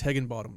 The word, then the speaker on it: Higginbottom: One thing they did well the entire game was hold down Owen Higginbottom, which, by the way, I learned that the H is silent. Really? It's Higginbottom, yes, but it's spelled with an H.